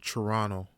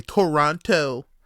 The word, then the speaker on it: Toronto: mayor in my city Toronto that's how you pronounce it Toronto you don't say Toronto Toronto that's how you say it and low